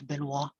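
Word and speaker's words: Benoît: i met this guy they pronounced his name as benoit okay so these are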